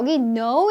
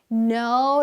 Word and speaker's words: know: "know" 의 K 는 묵음 입니다 . 무음 이라서 소리 가 나지 않습니다 . "know" 라고 발음 하는 것 이지 "k-now" 라고 발음 하는 것 이 아니라는 점 을 기억 하세요 .